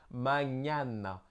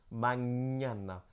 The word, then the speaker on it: mañana: C'est un équivalent du GN français. Donc, par exemple, on a mañana, mañana.